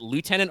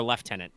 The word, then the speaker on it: lieutenant: very good question uh would you guys prefer to pronounce it lieutenant or leftenant um I'm I'm gonna